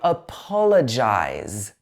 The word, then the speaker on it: apologize: I apologize. Okay, so this one also stresses the po syllable. So apologize. But notice the difference. On the end of this word, it's eyes. Apologize.